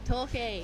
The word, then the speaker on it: Torquay: Torquay.